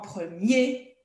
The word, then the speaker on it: premier: Oui, là, on prononce hier, mais si c'est au masculin ou quand c'est un adverbe, on va dire en particulier ou particulièrement, en premier, en dernier.